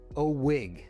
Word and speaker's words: OWIG: That's pronounced OWIG.